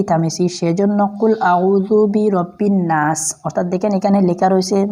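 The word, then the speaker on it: الناس: দেখেন এখানে লেখা রয়েছে নুন নুন আলিফ জবর নাসিন জের সি অর্থাৎ নাসি উচ্চারণ কি হবে অবশ্যই আপনারা জানেন যে নাসি হবে তো এখানে আমি নাস কেন পড়েছি একটা প্রশ্ন আসতে পারে দেখেন আমি এখানে যে অফকো করেছি অর্থাৎ আমি স্টপ করেছি থেমেছি ওই থামার জন্য আপনি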